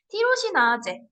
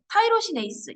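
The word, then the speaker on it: tyrosinase: 티로시나제, 타이로시네이스 영어로 쓰면 이렇게인데요. 타이로시네이스라고 읽기도 하고 티로시나제라고 읽기도 하는 겁니다.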